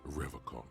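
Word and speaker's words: Revachol: stay strong forever call he pronounces rivercon with a hard K unlike other people not many City Lights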